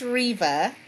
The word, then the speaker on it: Reva: and some Rivas yes so it's Reva at least I pronounce it Reva yeah yes right in